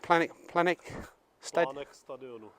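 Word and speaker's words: Plánek stadionu: How would you pronounce that in Czech? Planek Stadionu.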